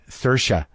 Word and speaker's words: Saoirse: But like working with Greta and working with, how do you pronounce her name? Saoirse.